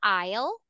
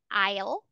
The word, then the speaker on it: aisle: one when we say aisle okay I'll so sometimes did this what makes English hard to study right so it's spelled like this but the pronunciation is different when we say aisle